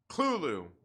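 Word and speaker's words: Cthulhu: not that it's probably um like dang it klulu there we go i said it right where's my man will morgan at uh cluelu who is you know like it's like the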